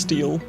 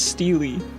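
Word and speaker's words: stele: Is this just pronounced steel? Am I gonna look stupid? I'm gonna Google it. There's nothing wrong with not knowing something. How to pronounce this word. Steely? It says Steely.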